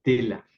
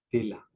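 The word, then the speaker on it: Teller: Ein Tela. Tela significa plato. La terminación ER en alemán siempre se pronuncia A, Tela.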